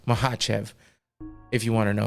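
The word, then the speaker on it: Makhachev: the fight between is Islam mahv if you want to say it correctly but it's makev whatever that's what we all say because that's how it looks and we're American and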